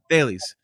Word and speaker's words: Thales: Thales.